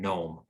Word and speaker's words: gnome: words like gnat and gnome the g is completely silent we just pronounce the n sound the same is true